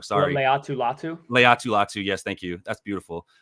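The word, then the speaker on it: Laiatu Latu: they picked their their first overall pick with lutu or I'm always gonna say his name wrong sorry Leu latu Leu latu yes thank you that's beautiful um with lutu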